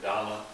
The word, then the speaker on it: Dhamma: The Dharma, or Dhamma, is usually more the way it's pronounced in Theravada, is the teaching.